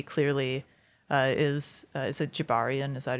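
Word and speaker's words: Gibarian: one we see clearly uh is is it Jabarian? Is that how you pronounce his name?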